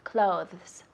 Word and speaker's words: clothes: Eso es un poco difícil con la pronunciación. Decimos clothes. Clothes. La TH es suave, pero lo decimos clothes.